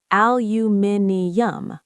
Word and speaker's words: aluminium: British spelling and pronunciation, aluminium, five syllables and an extra I in the spelling.